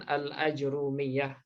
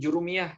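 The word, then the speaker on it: al-Ajurrumiyah: pertama kali membawa Nah itu dibaca dengan al-ajurumiyah kemudian ada juga yang diplesetkan lagi jadi Jurumiyah gitu ya Tergantung ini tergantunglah aja orang yang membacanya kalau berdasarkan nisbat aslinya itu harusnya karena beliau berasal dari daerah ajur Rum namanya di Maroko nah seperti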